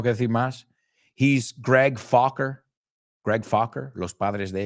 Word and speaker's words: Focker: He's Greg Fokker. Greg Fokker. Los padres de ella, los padres de él. Meet the Fockers. No es Fucker, it's Fokker.